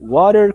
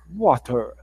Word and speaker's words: water: Então, no inglês americano, water, como eu disse para vocês. No inglês britânico é mais um water, mais fechado e com som de T.